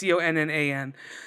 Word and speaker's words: Conan: The artist is Patrick Conan or Conan. I don't know how you would pronounce it. It's Connan.